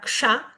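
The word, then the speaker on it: kṣa: También tiene dentro esta S con el puntito debajo, que es un sonido cerebral, por ende la letra ksha la voy a pronunciar con la lengua hacia el paladar.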